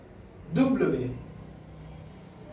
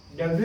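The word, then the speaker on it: double vé: इसकी प्रोनाउंसिएशन है वे, ये वी है जो, उसको पढ़ते हैं वे, वे, दुब्लवे, दुब्लवे, ये डब्ल्यू नहीं है, ये दुब्लवे है, ओके।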